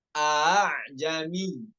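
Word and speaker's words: ءأعجمي: Terkait tashil selanjutnya nomor 68 dibaca A'jami. A'jami. Ini hanya satu cara baca aja ya. Nggak boleh tahqiq. Dua-dua hamzanya nggak boleh tahqiq. Hamzah yang pertamanya tahqiq, yang hamzah keduanya tashil. Itu cara yang benar.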